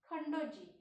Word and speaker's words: Khandoji: Khandoji, KHANDOJI, Khandoji, Baji, BAJI, Baji, Ghorpade, GHORPADE, Ghorpade,